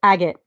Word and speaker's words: agate: yes I did it I was saying like a get or a got so it's agate and I learned that